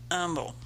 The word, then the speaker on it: Humble: And it is pronounced Humble. You humble yourself before the Lord, and you shop in Humble.